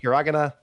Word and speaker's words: hiragana: It's hiragana. It's you. You You emphasized the wrong syllable, John. You said hiragana.